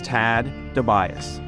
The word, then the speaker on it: Tad DeBias: Can you just say your name just so we have the correct pronunciation? Sure, it's Tad DeBias.